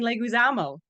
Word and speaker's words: Leguizamo: maybe it's not a layup how do you pronounce his name Michael put my retainer back in this is the time John Leguizamo say that again you say it oh that's